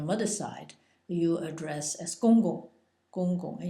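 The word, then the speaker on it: 公公: side, you address as gong gong, and usually it's pronounced twice, but sometimes it's once, gong, and it's in the G-O-N-G in the first tone, gong, and your grandmother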